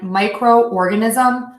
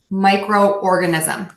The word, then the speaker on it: microorganism: at least we have the letters Oh Oh pronounced in two different parts and we see this a lot when we add the syllable Co to a word or when we have two words put together and she's sort of a compound noun so we have cooperate cooperate and micro organism micro organism if you listen carefully